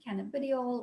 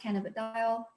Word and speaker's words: cannabidiol: CBD being cannabidiol or pronounced cannabidiol, and THC being tetrahydrocannabinol.